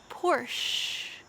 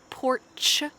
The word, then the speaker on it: Porsche: audi audi porsche porsche notice this word has an s-c-h but we don't say porch a porch is where i'm sitting right now it's like a deck a place on the back of your house or on the front of your house but make sure for this car we don't say ch instead you just say